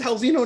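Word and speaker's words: Raulzinho: I've never heard anyone like say Raul Neto and pronounce his name like the long form like you did. So kudos to you. It's Halzino Neto.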